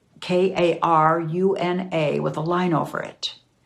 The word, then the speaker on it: Karuna: This is pronounced the same, but spelled differently. It's spelled with a K. Karuna with a line over it.